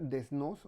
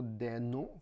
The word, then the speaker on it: Desnos: a hablar sobre Robert desnos o de no como ustedes lo consideren mejor pronunciar y básicamente Robert deó